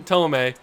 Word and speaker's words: Thome: It's Jim Thome.